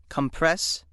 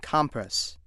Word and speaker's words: compress: Which pronunciation you use depends on how the word functions in a sentence. Let's see how this works. If word three is being used as a verb, meaning to press together or to reduce in size or volume, it is pronounced compress.